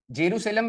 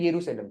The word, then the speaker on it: येरूशलेम: अब क्या पता इजराइल का कैपिटल ही पूछ ले, येरूशलेम। जेरूशलेम बेटा वो नहीं, इसका प्रोनाउंसिएशन क्या है? येरूशलेम, ठीक है।